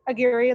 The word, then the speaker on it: Aguirre: and your major so aguirre that's right well that's the english pronunciation because we don't do spanish pronunciation but um it's my